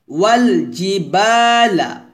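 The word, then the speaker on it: وَالْجِبَالَ: ওয়াল জি, জি জিমটা জিব্বার মধ্যখান উপর তলার সঙ্গে লাগাবেন, যখন জিম উচ্চারণ করবেন দাঁতের সাথে জিব্বা টাচ করবে না।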